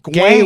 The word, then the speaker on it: Gawain: It's Gawain. Gawain. It's Gowan. Guam. Tell us in the comments what his Gavin. name is phonetically.